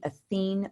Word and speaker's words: Athene: go to my website athene wealth management so it's like Athena it's just the masculine version with an e at the end so a t h